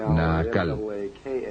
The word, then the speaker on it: Naacal: Se llamaba Naacal, N-A-A-C-A-L, o N-A-A-Cal, depende de cómo lo quieran pronunciar.